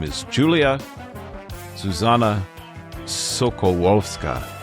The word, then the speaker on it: Sokolowska: Her name is Julia Zuzanna Sokolowska. I was very careful to get the pronunciation as close as I can for a U.S. English speaker. It's the beautiful Polish dialect. Sokolowska is her last name.